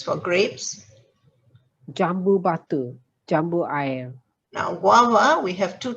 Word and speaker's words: air: Air is water, A-I-R. The old spelling is A-Y-E-R. So it's pronounced air. Okay, here you pronounce the I, air, and it's guava.